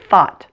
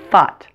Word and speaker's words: thought: As with most T's at the end of words, the T is held.